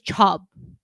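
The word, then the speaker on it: ชอบ: But no, like is chub. Chub. Yeah. With It's like C-H-R-O-B. Chorb is how William always romanized it. Yeah. But you don't pronounce the R.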